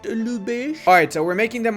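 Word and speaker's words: Lübeck: back actually from lubeck or should i say lubesh ludi is not pronounced to lubeck it's pronounced lubish alright so we're making them our vassal we're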